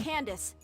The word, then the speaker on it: Candace: over there of course let's go let's go Candace that's how you pronounce her name okay come on you two